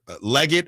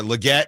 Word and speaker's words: Legette: Xavier Leget or Legette. I've heard it pronounced both ways.